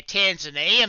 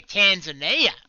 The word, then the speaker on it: Tanzania: Oh yeah, Tanzania, mate. Yeah, Tanzania. That's how we say it. We say it like real bogan, you know.